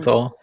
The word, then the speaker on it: Bernthal: Barenthal.